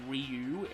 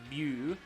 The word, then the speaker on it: Ryu: So I don't pronounce the name Ryu. I think it's Ryu. Because that's closer to the Japanese, but anyway.